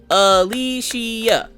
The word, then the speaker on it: Alicia: I'm talking to Maggie sound it out and do the syllables when you clap Alicia Alicia how hard is that then I'm then usually